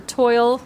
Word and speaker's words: toile: Okay, then there's this one, and this is called Ivory, and now I think in French it's toile or toile. It depends on where you're from, how you're going to pronounce that.